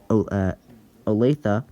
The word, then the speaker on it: Olathe: So we have Kansas City, Overland Park, Topeka, and Olathe, is evidently how you say it, under the 30%.